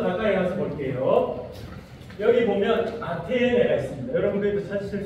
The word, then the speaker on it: 아테네: 아덴 아테네. 예. 이름이 이제 발음이 뭐 아테네나 아덴이에요. 이제 비슷한 이게 조금씩 발음하는 방법은 다릅니다만 예 다 비슷한 거 지금 보이시죠?